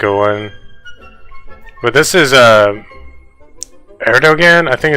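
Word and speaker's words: Erdoğan: But this is, Erdogan, I think it's how you pronounce his name.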